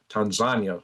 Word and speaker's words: Tanzania: in Kenya inh Tanzania Tanzania is proper way to say it, which were all taken out, bomb blown completely up by Iranian forces.